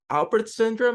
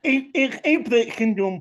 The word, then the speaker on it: Apert syndrome: He's a minister, a podcaster who has this rare condition called Alpert syndrome, if I'm not mistaken. It's Apert syndrome, but Apert syndrome. everybody pronounces it, differently.